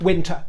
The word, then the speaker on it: Wintour: certainly not society and there's nothing wrong if people want to pronounce it win or win either the dip thong or the monothong version is fine people do especially in